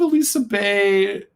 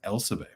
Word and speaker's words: Elsa Bay: And I believe Elisa Bay, or is it Elisa, or is it? No, I'm sorry. It's Elsa Bay. I was mispronounced.